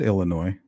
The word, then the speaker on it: Illinois: some holes in it Illinois don't pronounce it I said Illinois it's a silent s yeah I think I